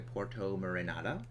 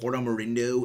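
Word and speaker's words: Porto Marinada: Now making our way back to Porto Marinata. I think I finally, like, pronounced the place right. I used to always call it Porto Marindo, and I know that's wrong, but I just don't really care enough to correct myself.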